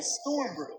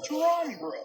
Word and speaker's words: Strong Brew: I have seen thousands of comments call me by Storm Brew. But you all have been saying it wrong because my channel's actual name is Strong Brew.